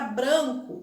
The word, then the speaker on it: branco: pronúncia da letra a a palavra branco o ar é mais fechado branco já na palavra zona